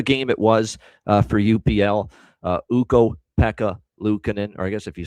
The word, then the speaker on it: Ukko-Pekka Luukkonen: And actually the cadence of it sounds like pick the back of pickled peppers when he says it in Finnish, quite honestly. But what a game it was for UPL. Ukko-Pekka Luukkonen, or I guess if